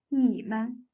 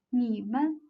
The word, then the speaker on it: 你们: And the third word 你们, 你们. 你们 is the plural form of you. 你 has the third tone, and 们 has no tone mark. So 你们 together should be pronounced as 你们, 你们.